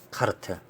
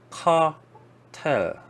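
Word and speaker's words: cartel: 이게 영어로는 사실 카텔이라고 합니다. 카텔이라고 합니다. 카텔, 카르텔이라고 합니다. 카르텔은 아마 스페인 발음으로 하지 않았을까?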